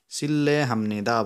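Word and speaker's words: 실례합니다: लको पछाडि र आएमा रको उच्चारण पनि ल हुन्छ साथीहरू।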